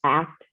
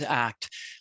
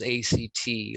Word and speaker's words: ACT: to pronounce it as a c t like c cbt or dbt but it's pronounced act for a reason because it is an active form of therapy and living great thank